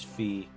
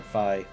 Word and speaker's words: Fi: Yeah, and apparently the official pronunciation is Fee or Phi.